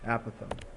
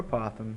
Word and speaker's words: apothem: this guy right here it's called the aatham or apoem depending on which way you would like to pronounce it also I'll make this